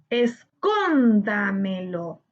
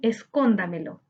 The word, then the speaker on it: escóndamelo: Físico, Escóndamelo. Ahora, ¿qué debemos hacer? Excelente. Ahora debemos buscar la sílaba tónica. Físico. Físico. Su sílaba tónica se encuentra en fi, correspondiente a la antepenúltima sílaba.